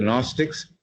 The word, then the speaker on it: Gnostics: G is silent. Do we not find the same also in early Christianity among the Gnostics and even in the teachings of Christ?